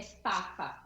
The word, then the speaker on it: Fafa: Deixa eu te perguntar, a pronúncia correta do empreendimento, eu percebi que eu estou pronunciando equivocado, né? É Fafa, é de Fafa.